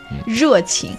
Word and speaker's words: 热情: 热情. So 工作热情. 工作热 that R sound is killer. 热情. Yes, 工作热情. Think about genre. Then you can pronounce 热情.